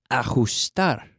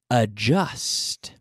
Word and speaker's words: adjust: The word of the day today is ajustar. Ajustar. ¿Cómo se dice ajustar en inglés? Adjust. Bueno, el verbo to adjust. To adjust. No es ajust, but adjust. With a D, add A-D-J-U-S-T.